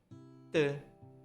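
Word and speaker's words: ㄸ: I'll read it first. 디귿, 드, dry. 티읕, 트, team. 쌍디귿, 뜨, style.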